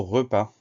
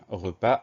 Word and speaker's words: repas: souvent c'est le mot repas première syllabe reperdent tout va bien deux syllabes pas p a s ça veut dire qu'on a une lettre muette le est ce qu'on